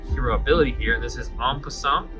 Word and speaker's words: en passant: The only reason I know how to pronounce that is from Hearthstone, because I heard this noise En Passant way more many times than I wanted to, and it is stuck in my brain forever.